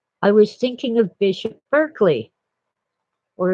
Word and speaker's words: Berkeley: I was thinking of Bishop Berkeley, or if you're English, you'd say Barclay, but it's spelled the same.